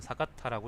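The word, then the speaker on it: 坂田: 판전은 사가타라고 읽는답니다.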